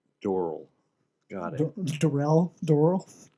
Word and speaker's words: Doral: Doral. Got it. Doral. You know how to say it right. I think it's Dorel.